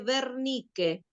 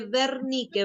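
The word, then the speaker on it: Wernicke: En el cerebro están dos áreas específicas que se llaman área de broca y área de vernique.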